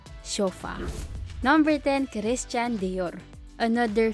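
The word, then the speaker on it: Chopard: CH is pronounced and D at the end is silent which signifies that we say shofar number 10 Christian Dior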